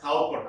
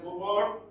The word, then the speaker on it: Cowper: the corporate superstitions underlying William Cooper or pronounced as Cowper as well but generally William Cooper he changed the direction